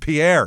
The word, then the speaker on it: Pierre: Pier, South Dakota is how they say it here.